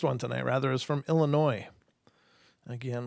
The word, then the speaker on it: Illinois: tonight rather is from Illinois again with that s that makes no noise which is actually funny